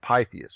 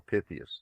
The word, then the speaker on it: Pytheas: And you can go back to pre-Roman history, the legend of Pytheas, or Pythias, depending on how you choose to pronounce it.